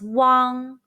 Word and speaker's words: uang: as possible say wang be careful not to pronounce the g sound too much it's barely pronounced say wang now mimik